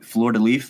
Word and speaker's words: fleur-de-lis: What was the thought process of putting the fleur-de-lis? Is that fleur-de-lis? Fleur-de-lis. Okay. Does not pronounce the last little bit.